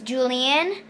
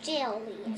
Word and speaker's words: Jillian: And this is Julian. It's actually pronounced Jillian.